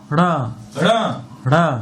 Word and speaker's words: र: उच्चारण कैसे होगा? र र र र र र र र, ना कि बड़ी र र। और इसका र इसका र र र, इसका र र र। थोड़ा जीभ को घुमाते हुए निकालना है।